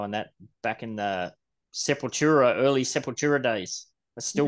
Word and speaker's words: Sepultura: probably since the 90s sapatora how do you say it Sepultura but from the frogs you can't some people say sepultra I say seventura too yeah raging debate back